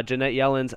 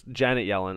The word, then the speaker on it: Janet Yellen: crypto market has uh jeanette yellen's attention uh we also see over here or janet yellen i know that you guys butch told me that i butchered her name i know i apologize